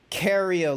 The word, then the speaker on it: Cario: It's meant to be Cario, like as in Lucario.